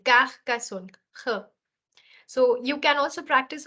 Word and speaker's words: Carcassonne: It is Carcassonne. I'm pronouncing the R in a different manner. It comes from the throat. It's like I'm scratching my throat saying Carcassonne, Carcassonne.